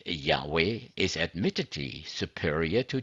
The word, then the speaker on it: Yahweh: is wrong they say Yahweh is admittedly Superior to Jehovah the wrong spelling Jehovah occurs since about 1100 and then it offers its arguments in favor of Yahweh as a correct and original pronunciation this is from let